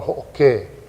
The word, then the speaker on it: ho'oke: It's called ho'oke. Ho'oke. Yeah. Accent on the E, the ke.